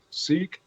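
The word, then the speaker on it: Sikh: ass that was a seek is that how they pronounce it or say yes because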